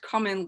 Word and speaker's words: cumin: pronounce it human but it's pronounced cumin like come in they also ate dill